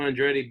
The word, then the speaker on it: Andretti: And then my third one has to be Mario Andretti, and it's Mario Andretti because, from me being a very young age,